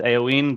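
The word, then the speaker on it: Eoin: Um when I'm abroad it's AoE, but it's actually, like something that belongs to you.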